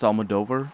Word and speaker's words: Almodovar: to worry about miss almodovar let's see it's actually pronounced almodover very well done looks